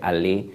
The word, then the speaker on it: Allais: si mal no recuerdo, que se escribe Allais, pero se pronuncia Allais.